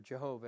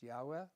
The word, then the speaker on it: Yahweh: That's Yahweh or Jehovah as a lot of people say it. But the name is actually pronounced Yahweh in Hebrew.